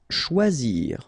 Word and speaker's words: choisir: Choisir, okay, remember when you combine this C and H, you get the sound sh, and then OI, wa, okay, choix, and then zir, choisir.